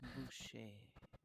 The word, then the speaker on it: Boucher: It's like butcher, but without a T in the middle. So it's Boucher.